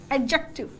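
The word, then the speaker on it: adjective: एडजेक्टिव actually इसमें D silent होता है, लेकिन हम बचपन से ऐसे ही पढ़ते आ रहे हैं, इसलिए एडजेक्टिव की तरह काम करता है।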